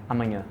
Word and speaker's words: amanhã: So like, for example, we have the A with tilde, which makes it a nasal sound. While, how would you say amanhã? Amanhã. Amanhã. So and we say amanhã. It's very nasal.